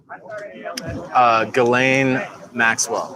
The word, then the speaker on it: Ghislaine Maxwell: Ghislaine Maxwell.